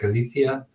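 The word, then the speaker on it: ἀλήθεια: in being in time which is Alethia or I think the proper Greek pronunciation would be something like ilithyia then letter was the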